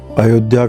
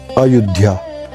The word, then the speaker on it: अयोध्या: अयोध्या कहें या अयुद्धा, कई तरह से उसका उच्चारण करते हैं।